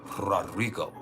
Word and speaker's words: Rodrigo: And you gotta roll your R's. Rodrigo.